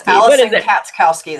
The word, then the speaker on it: Katskowski: It's Alison Katskowski. You're close. Katskowski. You're close. Katskowski. What is Alison it? Katskowski, the CH is silent. Cats.